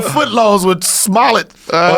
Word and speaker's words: Smollett: He trying to do them fucking $5 footlongs with Smollett or Smoletta. How do you say his I can't name? say his name. Smollett.